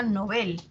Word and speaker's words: Nobel: lengua origen ahora e es palabra aguda en sueco o sea se pronuncia novel y así se recomienda